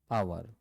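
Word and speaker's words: hour: an owner an ऑनर तो यह शब्द से पहले हम क्या कर रहे हैं यह साइलेंट है एच आवाज उसके बाद है भी वोवेल्स और आवाज भी वोवेल्स की है अब कुछ ऐसे वर्ड्स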